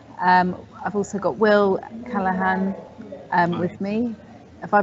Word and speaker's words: Callaghan: waltham forest council um i've also got will callahan um with me have i pronounced your name right will yes you have